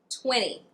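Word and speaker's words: twenty: Sometimes we have a silent T when a T follows an N, but the syllable that the T begins is unstressed.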